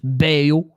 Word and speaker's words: Baillot: that NE was close it's boo right I mean that's how you pronounce it in French beo oh yeah there there's